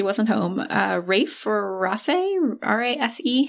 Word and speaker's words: Rafe: R-A-F-E? How are we pronouncing this?